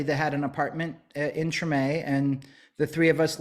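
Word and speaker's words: Tremé: when you came here you settled in the Treme if I pronounced that correctly that's correct what was it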